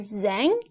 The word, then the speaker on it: Zhang: address him as mr zhang no z-h-a-n-g is pronounced as zhang z-h in chinese sounds